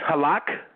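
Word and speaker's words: הלך: It's halak, if I'm pronouncing that right, brother? Absolutely, perfectly.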